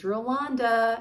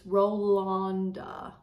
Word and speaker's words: Rolanda: And it is Rolanda, everybody. I asked, it came from the horse's mouth herself. I asked her on Etsy how you pronounce her name. And also Amanda, Lucky Chance Stitcher, also asked her in person at Stitch North. And it's Rolanda.